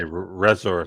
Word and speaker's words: Reser: up there okay Reser how do you say your name I would say resor like you said yeah resor resor Resort